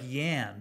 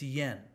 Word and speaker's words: yan: And finally, this E, the IAN, it looks like yan, but no, it's yen. Y-A-N is pronounced just like the Japanese currency yen.